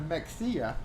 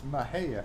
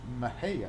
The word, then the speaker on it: Mexia: mexia and oh and his proper pronunciation instead of mexia it's mahaya m-e-x-i-a how would you say that mexia but it's mahaya mahaya all right so strangers